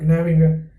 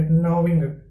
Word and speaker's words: gnawing: Gnawing, G is silent here, not gnawing, here gnawing, biting steadily at something.